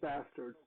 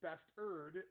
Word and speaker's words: bastard: And I like how you, who does not curse, is saying bastard because it's spelled with an E. Yeah. It's bastard, not bastard. Yes. So, all right, It's like mustard.